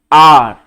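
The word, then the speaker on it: hour: An r. We do not pronounce this as our. It's r. Ah. Okay. H is silent. So we say r.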